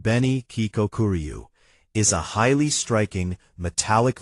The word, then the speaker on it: Beni Kikokuryu: The Beni Kikokuryu, pronounced Beni Kikokuryu, is a highly striking, metallic variety of koi fish.